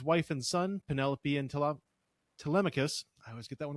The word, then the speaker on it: Telemachus: I always used to listen, growing up, I called him Telemachus, and then I'm like, oh, fuck, it's Telemachus. So Telemachus. You put the wrong emphasis on the wrong syllable.